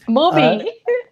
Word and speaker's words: Mubi: I'm like, are they just mispronouncing the word movie? It's called Mubi, M-U-B-I. And I know it's weird, but anyway, it's movie.